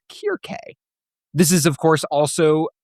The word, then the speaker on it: Circe: may have learned to pronounce it Circe, based on its Uh-huh. modernized versions, the original ancient Greek and the Latin that would have followed is pronounced as Kirke.